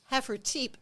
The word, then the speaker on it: Hafertepe: Hafertepe, but we don't say the E at the end. That's right. Germans in Hafertepe. Texas went English, and so silent E making Okay. So, Hafertepe. but the Germans would. Yeah, it's probably Hafertepe back in Germany.